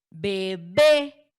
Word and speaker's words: bebé: Bebé, bebé. Ahí está otra de estas palabras. Su sílaba tónica recae al final, en la última.